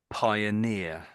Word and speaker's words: pioneer: So if if we forget the ed on the end, so it's pioneer.